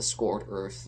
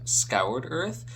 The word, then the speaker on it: Scoured Earth: So, the arc concerning the Scored Earth, the ritual for the desolation, is really impactful. Hi, Editing David here. So I keep saying Scored Earth instead of Scoured Earth. That's the real pronunciation, Scoured Earth.